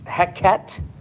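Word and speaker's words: Heqet: And so it's a god by the name of, I'm going to pronounce it, Heket, H-E-Q-E-T, Heket.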